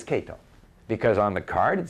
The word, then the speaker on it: Kato: mr kato hello mr cato why why i just finished saying kato and yet he says kato because on the card